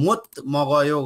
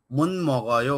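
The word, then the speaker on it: 못 먹어요: खरेसा फाबल मन मगयो यसको उच्चारण चाहिँ मोत मगयो गर्नलाई गाह्रो हुन्छ त्यही भएर मन मन मगयो गरेर गर्नुपर्छ मन मगयो यसको उच्चारण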